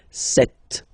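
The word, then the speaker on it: sept: Then here, remember, P is not pronounced. Okay, it doesn't exist. So you get this set sound. Set, set. Okay.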